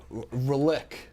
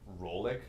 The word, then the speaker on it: Rellik: Rellik. It's pronounced Rollick.